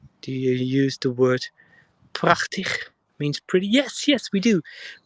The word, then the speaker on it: prachtig: We and you almost typed it correctly as well, but we don't use the g, but the ch in prachtig. And the last G is the right G we just did.